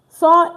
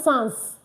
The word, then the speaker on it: sans: You can see now I did not say sans. You get the pronunciation correctly and you're good to go. Remember here I said and look at it now. So not s because a is the s is not pronounced just I say s a n.